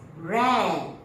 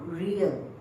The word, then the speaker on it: rear: to the back and this word we pronounce as rare not real okay rare animals means